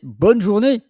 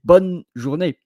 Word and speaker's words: bonne journée: You don't say bonne journée, you say bonne journée because the E is silent.